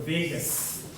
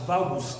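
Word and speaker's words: vagus: now which is called Vegas you hit my point so Vegas now some will pronounce it as vowels it's not vowels you know my what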